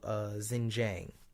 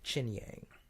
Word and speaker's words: Xinjiang: its western region of Xinjiang. Xinjiang, I guess you pronounce. No, X is a ch sound, right? So Xinjiang.